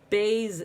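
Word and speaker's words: בית: dot remember we said the bet the Bayes was a boat the Vaes is the vacant boat the guy left and now the boat is vacant there is a void inside so it says the sound the that's right okay Bayes says BA Vaes says the Bayes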